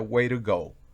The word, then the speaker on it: way to go: de este modo y la expresión way to go normalmente pronuncia wire go es un significa obrar